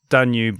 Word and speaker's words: Danube: I thought that we should do a jingle for him because Danube rhymes with YouTube, and that was enough for me to go with it.